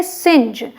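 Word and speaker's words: singe: जैसे कि एस आई एन जी इसे हम पढ़ते हैं सिंज, ऐसे में आई एन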